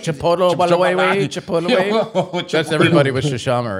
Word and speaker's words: Chipotle: know it's like the Chipotle you remember those chipot remember we're playing around with you do you